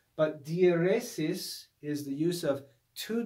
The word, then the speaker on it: dieresis: they need to be read as two separate syllables okay so diphthongs and dieresis and let me just write this word the